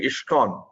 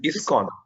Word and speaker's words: ISKCON: And when you pronounce ISKCON, Mataji, I think you are making a slight pronunciation mistake. You are saying ISKCON. It is ISKCON, in International Society for Krishna Consciousness.